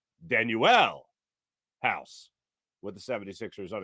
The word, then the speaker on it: Danuel: what don't you know the pronunciation guide it gives you is is danu L danuel house with the 76ers